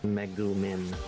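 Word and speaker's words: Megumin: Meumin, I think is the way you're supposed to pronounce it.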